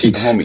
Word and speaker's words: Homme: So Josh Homme, Homme. Yeah. So Josh Homme did this. Homie. So Okay. here's how the story It's went. actually pronounced Homie.